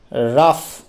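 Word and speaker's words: rough: মানে হলো অসমতা অসমান এক্ষেত্রে জি এইচ এর উচ্চারণটা হলো ফ এর মত তারপর দেখো লাভ লাভ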